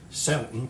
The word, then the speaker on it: Zelten: might come loose so where does the word selton come from when it's spelled with Zid it's Germanic um and it